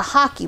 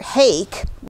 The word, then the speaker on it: hake: and that is a hockey brush yeah it looks like hake like when you see it in the catalogue but it's actually pronounced hockey like the sport hockey's were originally designed